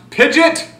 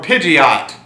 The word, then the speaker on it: Pidgeot: one the bird Pokemon either pronounced pidet or Pidgeot pidet sounds weird and I mostly hear Pidgeot I always called him